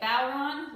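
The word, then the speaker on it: bodhrán: you spell it b-o-d-h-r-a-n but the d is not pronounced um the letters in irish make different sounds than they do in english so you say it bauron like take a bow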